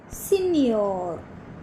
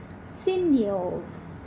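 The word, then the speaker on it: señor: Juliano Juliano and the last word given is senor senor so as we come across these words we will learn to pronounce them again okay so let us start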